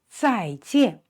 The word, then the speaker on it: 再见: And notice this pronunciation, the letter J is pronounced 鸡, 鸡, 鸡, 一, an, 见.